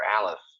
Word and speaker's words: aleph: it like an e where you're wrong is that the aleph has no sound at all it's silent well somebody gave it a